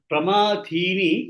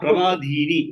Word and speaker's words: प्रमाथीनि: Pramadhini is the second tha. Tha. Okay. Pramadhini. Okay, sir. Not pramadhini. What you said is a third or fourth tha you are telling.